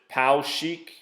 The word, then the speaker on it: Poweshiek: found in this county I believe you pronounce it Pao cheek possibly different but the Spelling's correct and